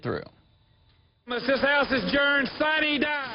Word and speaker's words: sine die: This House is adjourned, sine die. Sine die is a Latin phrase meaning without day. It's mispronounced sine die at the Georgia General Assembly, but the point is that it's all over.